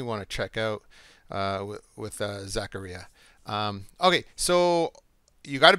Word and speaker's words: Zaccaria: Now we're going to get Zaccaria. Rhymes with pizzeria. Zaccaria.